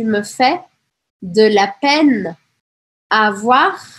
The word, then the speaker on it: avoir: Tu me fais de la peine avoir. Aqui eu pronuncio esse R, tá? Importante. Avoir de la peine.